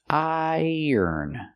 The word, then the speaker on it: iron: shirt because it's wrinkled the verb iron iron you said long I plus the r i and the end sound iron in a continuous form